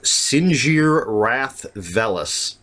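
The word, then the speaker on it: Sinjir Rath Velus: And while that's going on, we're also introduced to Sinjir Wrath Velis.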